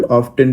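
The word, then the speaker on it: often: ऑफेन में T silent होता है। हालांकि कई जगह पे आजकल ऑफेन भी बोला जाता है।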